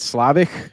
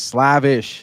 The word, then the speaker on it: Slavish: I just said Slavic, you know, but he goes, no, it's Slavish.